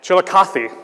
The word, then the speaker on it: Chillicothe: Pronounced Chillicothe. Chillicothe, thank you.